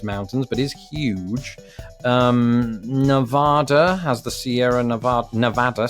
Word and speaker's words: Nevada: and Nevada excuse me I've gone through all this quiz and I pronounce it Nevada it's Nevada I corrected myself once